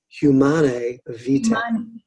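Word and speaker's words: Humanae Vitae: It's humanae vita.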